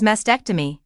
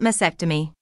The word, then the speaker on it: mastectomy: I also discovered that the correct pronunciation is mastectomy not masectomy it contains a t it shouldn't masectomy should